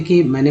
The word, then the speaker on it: calm: Double vowels, या जैसे silent letter, जैसे कि एल एम से क्या होता है, म होता है। जैसे कि इसका एग्जांपल है तो CALM, काम, है ना, काम।